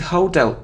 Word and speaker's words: hotel: even in songs but it isn't hotel its hotel so the stress is on the second syllable hotel it isn't him